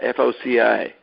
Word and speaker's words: foci: I've heard it's pronounced as foci, soft C. Yeah, maybe. It probably comes from Latin, right? Where it would be a hard one.